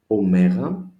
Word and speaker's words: omega: And we end our session of Greek alphabet with the last letter, omega, capital, small, uppercase, lowercase, omega, no differentiation as pronounced with omicron. Both are O, sounds like O in not.